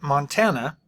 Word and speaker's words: Montana: the line Montana called the treasure state so Montana is how we pronounce it it's kind of funny here so